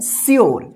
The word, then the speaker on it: sure: SURE, इसको क्या पढ़ेंगे, श्योर, क्या पढ़ेंगे, श्योर, श्योर, श्योर, इसको ध्यान रखिएगा, श्योर, सूर्य मत पढ़िएगा या सुर, ठीक है ना। इसको क्या पढ़ेंगे, श्योर।